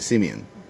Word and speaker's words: Simeon: listen to juice us they don't say Simon it's a Simeon and then if you